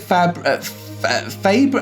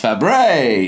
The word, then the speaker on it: Fabares: Is it Fabre? I don't even know how to pronounce her second name, so let's find out. Ladies and gentlemen, our guest is Miss Shelley Fabares. Fabares. It's Fabares.